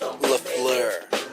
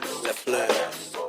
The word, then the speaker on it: Lafleur: Dick, my last name is pronounced Lafleur. Lafleur.